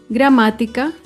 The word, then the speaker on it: gramática: Ahora vemos otro ejemplo con la palabra gramática. Gramática se acentúa en la antepenúltima sílaba.